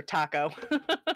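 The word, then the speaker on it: THAC0: You can tell someone's IRL alignment whether it's pronounced Thaco or Taco.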